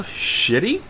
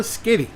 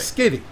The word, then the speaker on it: Schiti: comic book right now how would you pronounce the artist's name Valerio shitty no that's what I thought okay honestly he is not a shitty art okay edible artist okay okay I actually had to look up a video on the internet where they introduced him as a guest to hear how they would say his name its Valerio skitty skitty I think skiddy yes okay he's Italian